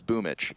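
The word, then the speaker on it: Boombl4: You know, because apparently a Boom BL4 is Boomich.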